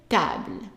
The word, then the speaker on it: table: Une table. Une table. And notice that the stress is on the ta. So, une table. And don't say table, it's ta.